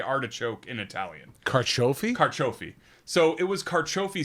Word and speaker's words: carciofi: And carciofi is how you say artichoke in Italian. Carciofi?